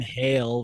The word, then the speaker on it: Hale: no was it Nathaniel Hale yeah yeah that's right which is interesting because his name Hale rhymes with Yale Yale Yale's a name